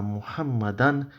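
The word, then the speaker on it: محمدًا: In Arabic, in colloquial Arabic, the way people speak nowadays, you probably say inna Muhammad la sadiq. That would be typically how an Arabic speaker would speak. But in terms of Arabic grammar, I'm pronouncing these signs here deliberately so it gives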